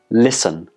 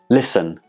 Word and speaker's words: listen: look at some examples the first one is listen listen did you hear any tat sound no there is nota in the pronunciation of this word the T in the spelling is totally silent then we have soften